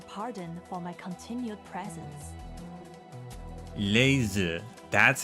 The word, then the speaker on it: Leizi: Laser, that's how you say her name.